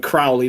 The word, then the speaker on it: Crowley: But yeah, So, but they pronounced it Aleister Crowley in the show. That's why I keep calling it Crowley, not Crawley.